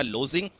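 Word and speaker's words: lodging: right answer क्या होगा लोजिंग ठीक है तो इसमें जो आपका डी जो है क्या होता है साइलेंट होता है लोजिंग में ठीक है ओके तो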